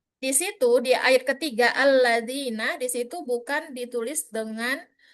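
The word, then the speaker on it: الذين: Ya, kan tidak mungkin membacanya ladzina yu'minu, itu tidak mungkin. Makanya itulah gunanya hamzah wasol. Alladzina yu'minu. Ya, itu dia.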